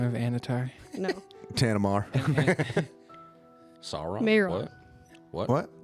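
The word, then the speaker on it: Mairon: a name for this, and I want to make sure I pronounce it right. Just an anagram of Anatar. No, Tanamar. Sauron? Mayron. What? What? Mayron?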